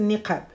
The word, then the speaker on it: niqab: fait de mettre donc la prononciation exacte c'est nikab.